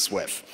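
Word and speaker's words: SWF: um follow a specification called SF were apparently pronounced Swift um version 3 to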